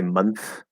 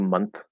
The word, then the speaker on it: month: a common question um you can clearly enunciate and say month month month switch from the slide from the end to the th or you can do month month month which is a nice easy way that we do it where we do the the dental tea because it's a voiceless